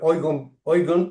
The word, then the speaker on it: Eigen: Se pronuncia Eugen por el alemán Values, pero quiere decir, cuando